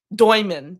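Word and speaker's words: Demin: Doyman. Doyman is actually how you say his name.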